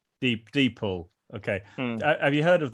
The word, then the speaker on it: DeepL: Is it Deep L or Deeple? Deeple.